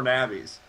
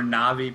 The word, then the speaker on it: Na'Vi: more navies or na'vi people get mad at me from pronouncing it like that because of my diet I'm sorry that's how we pronounce announce it one more time cuz I was well people say na'vi but I say Navi because I'm from the American South and we don't have